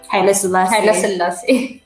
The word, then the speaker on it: Haile Selassie: And it's been inspired by, Sali, how do you pronounce his name? Haile Selassie? Haile Selassie.